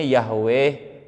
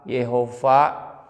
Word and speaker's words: Yahweh: Allah yhwh membela Tenten ini bacanya Yahweh ihwah Jehova Michael Jackson yova yova